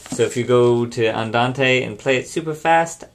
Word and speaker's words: andante: sure you know those three Tempo terms it's pronounced Andante Mado and algro don't say it wrong I